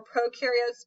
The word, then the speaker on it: prokaryotes: Remember, prokaryotes, pro rhymes with no, so they have no nucleus, while mitosis is used in eukaryotic cells.